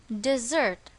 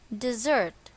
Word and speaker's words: dessert: and its pronunciation is dessert notice that the stress is on the second syllable dessert the second one is